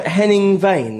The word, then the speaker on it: Henning Wehn: here was your name Henning vain is that how you pronounce it yes that sounds like the